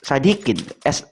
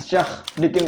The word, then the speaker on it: Syah Dikin: Apa pelafalannya itu kok Sadikin? Sadikin gimana itu? Bukan. Gimana? Syah Dikin, Pak. Itu ada kol-kolahnya, Pak. Pakai apa? Takmar butoh. Apa itu? Jadi SYAGH Dikin, Pak, gitu, Pak.